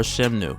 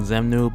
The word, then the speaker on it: Xemnu: his name and so I've heard his name pronounced either way xemnu or Sheva new with your two out of three ways the letter X is pronounced in any name and personally I'll go with the Z sounding xemnu because the s sounding shenmue is more often using your Latin or French dialect and that's kind of